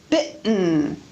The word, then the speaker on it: bitten: need to mention that very often the T before syllabic N is pronounced as a glottal stop. Listen to the difference between bidden, bitten, ridden, written, sadden, satin, sudden, sutton, burden, burton, Eden, eaten. The second example is pronounced with a glottal stop.